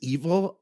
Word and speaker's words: Evel: though his name is evil I don't think of the guy as evil no I just think of evil that it rhymes with keval it's like today when